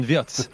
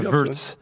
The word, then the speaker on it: Wirtz: Il a adapté à sa prononciation anglaise. Hein. Ça restera Wirtz, hein, Polo, hein, pour tout le monde. Hein. Bah oui, non. Florian Wirtz, et pas Wirtz.